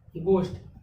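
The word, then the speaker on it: ghost: इसमें दो रूल मिले, G के बाद H आया और O के पहले H आया तो क्या हो गया, H, H हो गया साइलेंट। तो कितना का हम लोग किए उच्चारण, GOST, गोस्ट। ये लिखा है ना, गो, स और ट, यानी कि गोस्ट।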